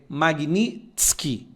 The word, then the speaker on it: Magnitsky: Às vezes você está na dúvida da pronúncia, a pronúncia correta é Magnitsky.